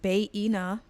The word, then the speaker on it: Bayina: Okay, if you don't know me, my name is Bayina, pronounced Bayena.